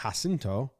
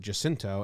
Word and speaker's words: Jacinto: said it pronounced it Jacinto and San Jacinto. So it's a hard J, tricky.